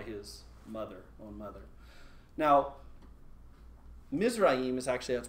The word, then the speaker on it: Mizraim: is birthed by his mother own mother now mizraim is actually that's pronounced mizrahim is actually the word for egypt so the